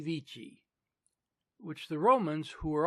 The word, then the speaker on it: Vici: The Britons, however, who of course still use the old pronunciation, understanding him to have called them weenie, weedy, and weaky, lost heart and gave up the struggle.